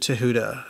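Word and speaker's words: Thoth: focus on th the Egyptian deity and you pronounce it Tuda and I know that's the actual authentic way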